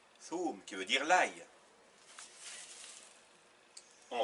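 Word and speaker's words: ثوم: Le waw et le tha et le waw qui se prononce ou, ça fait thou. Avec le m. Thoum. Thoum, qui veut dire l'ail.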